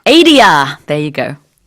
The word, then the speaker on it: Adia: I don't know how to pronounce this song. Adia. Adia.